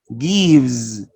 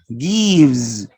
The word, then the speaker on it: gives: and say these words gives notice you write with the letter is but you don't pronounce it with the sounds you pronounce it with a sound z gives gives this is another assimilation